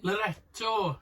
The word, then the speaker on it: Loreto: Loreto. Do you know, I haven't got it yet. Just rhymes with connector.